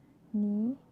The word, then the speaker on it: knee: So K is not pronounced when it comes before an N, like knife, knee, knock, not, knowledge.